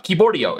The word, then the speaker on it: Keyboardio: the uh ivorio uh kiborio is the right way to pronounce it okay so he sent